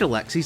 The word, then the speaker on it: Alexie: He is named Alexie simply because it rhymes with pixie.